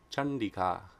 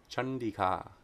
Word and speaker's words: Chandika: heads as well so if anuswa perceives a cerebral sound it's pronounced like the cerebral nasal na there's a couple nice examples here number 755 chandika chandika chandika chandi devi is the